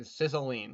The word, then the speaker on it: Cicilline: Yes, I think Cicilline.